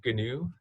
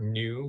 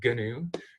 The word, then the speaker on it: GNU: the the animal but gnu that's one of the sort of shibalus that lets people know like if you're in the club of hacker cultures that you pronounce the g and this gnu project